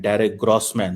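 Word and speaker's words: Derek Grossman: रहा था एक है डायरेक ग्रोसमैन साहब ड ग्रासमैन जो है वो रंड क डरे गमन इनका उच्चारण दोस्तों डायरेक ग्रस मन होता है ये जैसा कि हम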